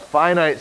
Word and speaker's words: finite: adds those numbers a finite series that's how you pronounce this word right here finite it's a series with